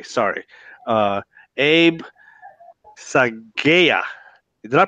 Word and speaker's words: Saghieh: or enrolled agent I should say sorry Abe psy gaya did I pronounce that right you got it right yeah